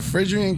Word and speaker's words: Phrygian: How you pronounce? What's that? Farragut? Is it Farragut? Phrygian? Phrygian? Yeah. It's the Phrygian cap of liberty.